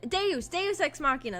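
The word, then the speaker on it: deus ex machina: toy probably if it's too annoying um de de exmachina that's how you say it I remembered I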